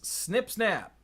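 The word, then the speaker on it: Snip-Snap: And that's Snip Snap. That's how you pronounce it.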